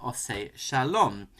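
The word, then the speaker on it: עושה שלום: And I'm going to demonstrate this through two versions of the prayer Oseh Shalom that I heard growing up. The first in an Ashkenazic pronunciation, albeit with some Anglo vowel changes, something like this.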